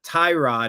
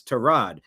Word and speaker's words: Tyrod: Mayfield educated us that it's not Tyrod, it's Tyrod. But he'll never correct you that way. But that's how you're supposed to pronounce it. It's Tyrod. Mr. Taylor's mother didn't name him after a car part.